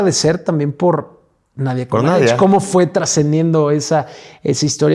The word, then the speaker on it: Comaneci: Y bueno, empieza este proceso en la parte política, mientras que Nadia Comaneci, o Comaneci, que es como lo pronuncian, estaba ella en una